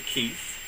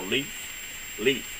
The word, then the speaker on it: Leith: Herb Evers, along with Virginia Keith, or Leith, not Keith, I'm sorry, it's Leith, L-E-I-T-H, that's better, let's just spell it and I'll quit trying to say it, right?